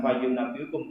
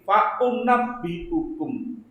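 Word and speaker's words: فأنبئكم: Ingkang leres bukan fayunabbiukum tapi faunabbiukum.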